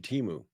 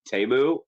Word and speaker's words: Temu: He laundered his money through Temu. Yeah. Actually, it's pronounced Temu.